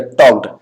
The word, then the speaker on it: talk: टॉक plus ED बन जाएगा टॉक्ड, TALK, इसमें एल साइलेंट है इसलिए बनता है टॉक।